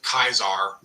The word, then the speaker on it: Caesar: Or at least pronounce it Kaiser correctly, you know, like in Fallout New Vegas, which I am assuming is the correct pronunciation.